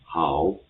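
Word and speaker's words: hao: it's h a o so h has the same pronunciation in English and a o is a vowel combination. It will have the same pronunciation as o in English word now. So if we put h and o together. So it will be pronounced as how how.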